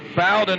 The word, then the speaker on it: Bowden: beaudoin and simon johnson jojo bowden i believe is how you say his name i've called him bowdoin for years let's see if it fires him up to get it said right today the 59 machine